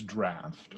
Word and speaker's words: draught: It is pronounced the same way as draft, or with the vowel somewhere between A and A, draft.